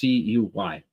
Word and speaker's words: Cuy: Kai, I think is how you pronounce it. DJ Playness says Cooey, but is it Kai? No, I bet you he's right. Nope, Cuy. Yep, it's pronounced Cuy.